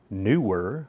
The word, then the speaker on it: Neewer: with accounting for cycling this has been the newer newer N I believe it's either newer because of the two e or newer which is probably correct it seems to be